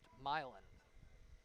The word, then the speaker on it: Milan: not with the town outside of an arbor pronounced milin even as a michigander I learned of that